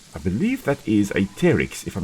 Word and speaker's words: Pteryx: P-T-E-R-Y-X. The P, very similar to one that you do 2 o'clock in the morning when you don't want to wake everybody up in the house, is silent.